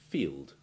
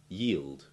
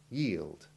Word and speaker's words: yield: wheeled cockatiel rabies species these words are easy to pronounce but be careful with those ending in ld this ending is impossible to pronounce without a tiny hint of the iv sound before the l but keep it very tiny and avoid the common mispronunciation of letting a w sound replace the l in what should be a clean ld sound listen and i'll show